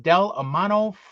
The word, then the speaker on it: Del Amo: for blank was in Del Amano Fashion Center Daddy's delamano is how you pronounce it Del Amano Fashion